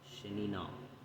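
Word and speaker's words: שְׁנִינָה: So, as it says in here, the word is pronounced shenino.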